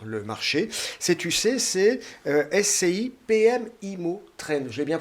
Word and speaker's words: SCI PM IMMO TREND: Cette UC, c'est SCI PM IMO Trend. Je l'ai bien prononcé, c'est bien ça ?